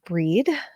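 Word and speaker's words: Brigid: associated with the goddess breed who and her name is spelled like bridgid b r i g i d sometimes there'll be an H in there as well I pronounce it breed um who embodies healing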